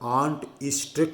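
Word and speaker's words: Arndt-Eistert: आंट ईस्ट्रेट synthesis. Next method for the synthesis is आंट। Spelling देख के ध्यान से लिखना, ARND साइलेंट होता है। आंट ईस्ट्रेट, EISTERT, आंट ईस्ट्रेट synthesis.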